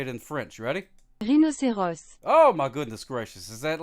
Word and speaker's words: rhinocéros: Rhinocéros. Oh, my goodness gracious. Is that like not 1,000 times better? Is that not 1,000 times better? Say it in English. Rhinoceros. Rhinoceros. There we go. And then... Rhinocéros.